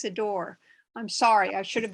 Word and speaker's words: Sidore: have to tell you my last name has two syllables not three it's sidor i'm sorry i should